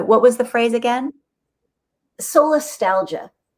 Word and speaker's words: solastalgia: Solastalgia. Soul nostalgia? Solastalgia. S-O-L.